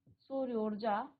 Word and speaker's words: सूर्योर्जा: है यहाँ पर सूर्योजा, सूर्योर्जा। तो दो बार रॉ का उच्चारण आएगा, सूर्योर्जा, सूर्योर्जा, ठीक है।